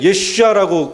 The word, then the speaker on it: 예슈아: 히브리어로는 예슈아랍니다. 그죠? 발음을 잘 하셔야 돼요. 예수님 할 때 예슈아라고 그들은 부릅니다. 그죠? 히브리어 본 발음을 하면 예슈아입니다. 예슈아.